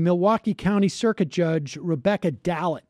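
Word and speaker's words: Dallet: County Circuit Judge Rebecca dalit I believe is how her name is pronounced won a seat on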